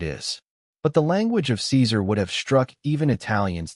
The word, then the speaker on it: Caesar: The C was always hard, as in Caesar pronounced Kaiser.